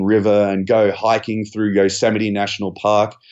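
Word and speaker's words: Yosemite: and go hiking through Yoseite National Park, which I actually thought was yosamite because it's spelled the same as Vegomite and Marmite.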